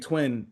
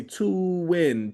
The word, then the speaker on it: 2wiin Kingz: But a lot of people see our name, they say two win, two. It's like twin. It's just twin.